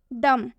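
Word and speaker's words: dumb: डम, इसमें भी काफ़ी सारे स्टूडेंट्स गलती करते हैं, इसे डम्ब पढ़ते हैं, जबकि इसमें एम के बाद से बी दिया हुआ है, इसलिए हम इसे डम पढ़ेंगे।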